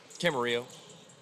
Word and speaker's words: Camarillo: Camarillo. Okay. That is the Spanish pronunciation.